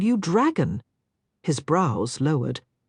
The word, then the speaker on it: Drago: It's like dragon without an N. "Oh." A smile spread across Pandora's face. "I like that much better. I'll call you Dragon."